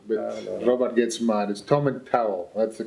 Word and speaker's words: Tomintoul: He's the distillery manager here at Tomintoul, or Tomintoul, as we. Oh no, Tomintoul is the correct pronunciation for that. I'm in trouble already. Oh yes. See, I'm from Turriff, and we would say Tomintoul, but No.